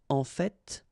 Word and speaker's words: en fait: So whether you pronounce the final T or not, you can hear both. En fait. En fait. En fait. I'd rather pronounce it personally.